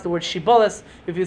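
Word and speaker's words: Shibboleth: frame or not by seeing how you could pronounce the word shibolis. If you said sheibis that you're not from a frame.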